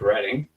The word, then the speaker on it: Reading: Like, so if I'm ever in Reeden, Massachusetts, is that like a must. Let's pronounce it correct. Reading.